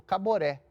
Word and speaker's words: Caboré: ele chama ele falou Caboré ele falou nossa e ficou com aquilo na cabeça porque era um nome forte né três sílabas uma sílaba tônica no final né Fácil de guardar de de pronunciar E aí acabou chamando